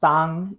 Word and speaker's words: Tan: Tan is pronounced Tang in Teochew.